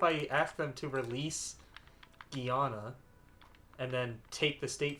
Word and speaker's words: Guyana: Alright, 60 days to get Guyana. Guyana, sorry. Right, that would be the better pronunciation, right?